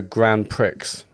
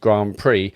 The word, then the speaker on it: Grand Prix: Super Monaco Grand Pricks. We've We've all been there and everyone in the room laughed at me. My mom explained that Grand Prix is French and it actually pronounced Grand Prix and I I felt